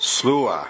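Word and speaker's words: Sluagh: Next we have Sully1017 who says Derg Du is pronounced Darug Dua, Alp Luatra is pronounced Alp Ukra, and Slough is pronounced Slua.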